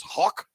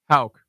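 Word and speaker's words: Hauck: Hauk, but everyone gets it wrong. Hauk. How would you pronounce that, Toby? H-A-U-C-K. H-A-U-C-H, rather. Yeah, probably Hawk. It's kind of like it reminds me of like clearing your throat.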